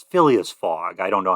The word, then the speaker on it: Phileas Fogg: It's Phileas Fogg. I don't know how to spell it, but Phineas Fogg?